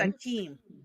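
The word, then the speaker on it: Achim: you paralyze it, said, would you like to pronounce his first name? I believe it's Akeem.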